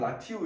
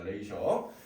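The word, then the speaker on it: ratio: 자 잘 모르는 냥 라티오 이렇게 읽을 거 같은데 예 레이라 있습니다 레이셔 예 여기 굉장히 발음이 독특해요 여기가 이제 셔 바음나요 셔 예 이게 왜냐면 라틴어에서 나온 녀석이거든요 라틴어에서 이제 파생된 거랑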